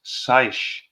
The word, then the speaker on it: seiche: There's something that is often mistaken for tidal movement, which is called seiche, pronounced seiche, or a standing wave, which can reach several meters in height.